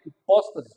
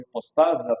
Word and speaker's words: hipóstase: É a palavra hipóstase ou hipostase, depende da maneira como pronunciamos em português.